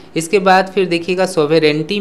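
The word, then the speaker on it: sovereignty: आप प्रोनंसिएशन पर फोकस जरूर करें, सोवेरेंटी इसका प्रोनंसिएशन होता है, सोवेरेनिटी करके कोई प्रॉब्लम कोई वर्ड नहीं होता है, ठीक है।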